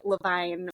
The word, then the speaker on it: Levine: of us and also I pronounce it Levine which is is very confusing and annoying um so just call